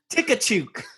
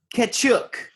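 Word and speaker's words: Tkachuk: Matthew Tikachuk.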